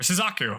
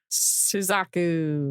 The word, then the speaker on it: Suzaku: she could be the priestess of Suzuka or Suzaku. I keep saying it wrong. Suzaku.